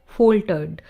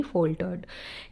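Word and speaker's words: faltered: जब भी एल से पहले ए आता है तो हम उसको ओ प्रोनाउंस करते हैं। सो इसकी प्रोनाउंसिएशन क्या होगी? फोल्टर्ड।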